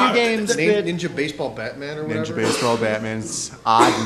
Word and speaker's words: Ninja Baseball Bat Man: of the draw is the way that they pronounce it too is ninja baseball batman which it should be a ninja baseball bat man you know and it's like not batman i thought it was